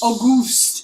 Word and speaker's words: Auguste: Auguste. It's spelled like it's spelled August with an E at the end.